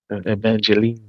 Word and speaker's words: Evangelion: That's Evangelion. Evang Evangelion. Evangelion. That's Optimus Prime. Uh, Evangel. Yeah. Evangelion. Evangelion. Evangeline. Look. Evangelion. Evangeline. It's anime. Yeah, you could pronounce it like that, too.